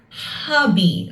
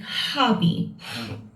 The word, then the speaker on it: hobby: And look, notice the sound of hobby. We pronounce the H as hobby, all right? It comes deep from your lungs, like hobby.